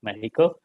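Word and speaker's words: México: She's in Mexico, and she's the executive director for Codeando Mexico, depending if your first language is Spanish, we pronounce it Mexico.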